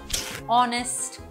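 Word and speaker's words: honest: কিন্তু এইচ সাউন্ডটা সাইলেন্ট আবার অনেক সময় এইচ সাউন্ডটা যখন একটা ওয়ার্ডের একদম শুরুতে আসে তখনও সাইলেন্ট হয়ে যায় যেমন আওয়ার অনেস্ট অনারেবল এখানেও কিন্তু এইচ সাউন্ডটা সাইলেন্ট আবার এইচ সাউন্ডটা যখন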